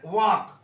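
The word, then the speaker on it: walk: नहीं गया आगे देखिए वक डब्लू ए एल के वक तो एल क्या इसमें साइलेंट है लिखा हमने वाल्क और उसको पढ़े कैसे वक तो एल क्या है साइलेंट है जैसा लिखा गया वैसा पढ़ा नहीं गया आगे देखिए नो के एन ओ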